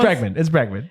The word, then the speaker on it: Bregman: We don't know how to say it. It's Bregman.